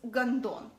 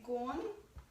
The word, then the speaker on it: гондон: The word is гондон, and I'm going to spell it out for you too. Гондон. Or in English, it will be gone-don. It's kind of like gone and done without the e's.